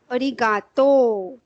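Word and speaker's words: ありがとう: Same the pronunciation is arigato.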